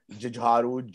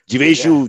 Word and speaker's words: Jeeveshu: And people call me anything between Jijharu, Jugaru, Jijivshu. Sir, for a Parsi in South Bombay, it's a tough name. I spent 10 minutes going over it, so I don't say it wrong here.